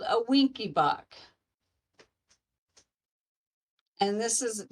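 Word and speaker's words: Wenckebach: A secondderee type one is also called a winky buck.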